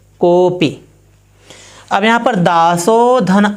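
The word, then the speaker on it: कोऽपि: कैसे इसका उच्चारण करेंगे? कोपी।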